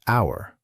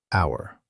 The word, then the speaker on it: hour: The word hour. We write an H, but we don't say it. We say hour, hour.